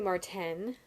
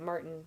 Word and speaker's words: Marten: No, it's actually Marten. It's Marten, and it's tempting to pronounce it Martin, but I really don't like the way that sounds, so I'm trying to say Marten.